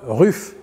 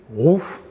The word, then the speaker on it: Ruf: puisqu'on parle du préparateur Ruf rouf prononce comme on veut alors là il y